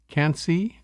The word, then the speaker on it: Quincy: Villages of puifume sansare can't see spelled like Quincy melito salon and Roy